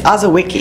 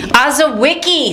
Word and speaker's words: Azawicki: It's Azawicki. Azawicki. Azawicki. That's like Wick Wiki from Transformers. Yes.